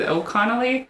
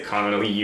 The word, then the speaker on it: Connelly: I always want to say her name is O'Connelly. I always say it wrong with an N. I would say Connelly or something like that.